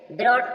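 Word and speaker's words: brought: H silent है coat coat means पकड़ा जी silent है ब्रोट ब्रोट मींस लाया जी साइलेंट है लाफ लाफ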